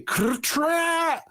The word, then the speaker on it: Katrash: And Ramud says, "You have to say Katrash." And then Eric's like, Katrash, Katrash. He goes, "No, Master Eric, roll your R's." And he's, okay, Katrash, Katrash.